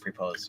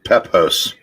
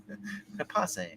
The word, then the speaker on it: Pepose: Okay, I always read it as David Propose. It's Pepos. That's how it's pronounced. Propose? Pepose.